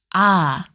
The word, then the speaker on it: ㅏ: To write ah, draw a vertical line from top to bottom. Then a short line from left to right. To pronounce it, open your mouth wide and lower your tongue.